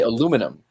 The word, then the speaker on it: aluminium: aluminium, and we say aluminum. However, those are two different spellings for the same element. There's How is two it? spellings: Yeah. I don't aluminium know.